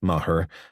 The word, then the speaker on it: Maher: departments it had fall into Mahar pronounced mahur to pick up the